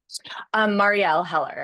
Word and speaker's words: Marielle: What are some of the ways that the script that you wrote and the script that Marielle, how do you pronounce her name? Marielle Heller. Marielle.